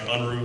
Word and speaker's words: Unruh: up with our last ticket it is mr unra i apologize anyway uh that's okay my name is unruh the last name is spelled u-n-r-u-h i am a recently governor-appointed member